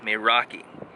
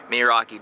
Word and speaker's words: meraki: Meraki.